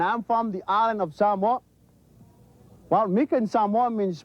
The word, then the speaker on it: Samoa: Most people will say Samoa. The right pronunciation of the word is Samoa. Okay? So it's not Samoa, it's Samoa.